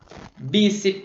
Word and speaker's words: bíceps: Bíceps. Olha, cuidado, bíceps é uma paroxítona, ok?